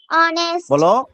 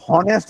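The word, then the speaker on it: honest: ও এনই এসটি অনেস্ট তুমি কিন্তু এচ বল নাই তুমি কিন্তু হনেস্ট বল নাই বল হনেস্ট বল নাই বল অনেস্ট মানে বলতাম এখন অনেস্ট বলি আগে আমি হনেস্ট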